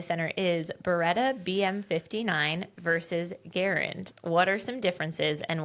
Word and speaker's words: Garand: It's Garand.